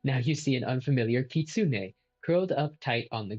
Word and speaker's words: kitsune: I am a kitsune. Apparently it's pronounced Kitsune.